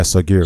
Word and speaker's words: Sogheer: So my brother, Sogheer, you pronounce it Sogheer, right? Yeah, Sogheer.